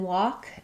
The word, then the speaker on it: walk: Um, what's good to know there is that the L is silent in walk. It's the same as this word walk that we cook in.